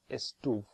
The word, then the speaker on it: estuve: It starts with estuve. Remember that the stress this time is on the penultimate syllable.